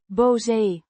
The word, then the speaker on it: boze: Boze Means angry or mad, pronounced boh-zeh. with a short O sound similar to the o in hot and a voiced z sound.